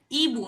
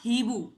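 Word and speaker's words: hibou: Here you कैन सी I have mentioned ईबु नॉट हीबु right मैंने इसको ईबु पढ़ा है ना कि हीबु क्योंकि एच is usually silent in French ऑलदो there are certain exception which we will be studying later on.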